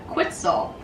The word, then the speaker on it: quetzal: We're talking toucans, flamingos, condors, and even a colorful bird called a quetzal. Good to know if you ever need a word that rhymes with pretzel.